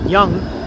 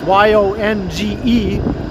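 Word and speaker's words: Yonge: mispronounced young street because the way it's spelled you know it doesn't sound like it would be pronounced young it's y-o-n-g-e so i heard them say yang like oh is this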